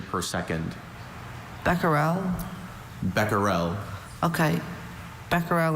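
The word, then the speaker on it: becquerel: Beckerel and Beckel are the two pronunciations, right?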